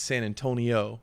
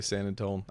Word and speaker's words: San Antonio: friend Rachel laven down and she's like from San Antonio she always listens when people try to rhyme or talk about San Antonio yeah she's like if they really mean it it's San Antonio and not saying in tone because it's like